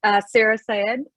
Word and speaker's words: Sarah Syed: This is Sarah Syed. Am I pronouncing that correctly, Sarah?